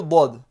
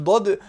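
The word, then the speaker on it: ض: Le dod de la Fatiha. Donc ça c'est une sorte de D, mais très emphatique et il ne se prononce pas au même endroit que le D.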